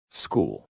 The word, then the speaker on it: school: School. School. School. No H sound at all.